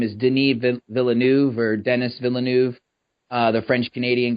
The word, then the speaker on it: Denis Villeneuve: Yeah, and after securing a guy like I think is how you pronounce his name is Denis Villeneuve or Denis Villeneuve.